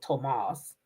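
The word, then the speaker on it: Tomás: This hussy sees Tomas, that's how you say his name, Tomas.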